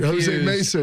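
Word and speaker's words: José Mesa: 90s was Jose Mesa Jose Mesa you're right that's right Jose Mesa two syllable second okay so that's who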